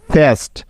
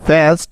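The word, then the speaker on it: fast: না এই শব্দটার উচ্চারণ ফেস্ট হবে না বরং এই শব্দটির সঠিক উচ্চারণ হবে ফাস্ট ফাস্ট কেন হচ্ছে দেখো কারণ এই যে এসটি এই এসটি হলো একটি ওয়ার্ড প্যাটার্ন এটার একটা নির্দিষ্ট সাউন্ড আছে ভালো করে মনে রাখবে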